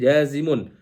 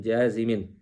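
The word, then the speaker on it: جازمٌ: Jadi kita bacanya harfu syartin jazimun, bukan harfu syartin jazimin.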